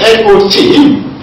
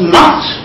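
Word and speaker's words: knot: For example, take the word not, spelled N-O-T, and not, spelled K-N-O-T. Of course, not, that is N-O-T, and not, K-N-O-T, are pronounced the same.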